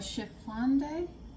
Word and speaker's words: chiffonade: Alright, it's called chiffonade. Chiffon. It's C-H-I-F-F-O-N-A-D-E. Chiffonade. I'm going to say chiffonade, what the heck?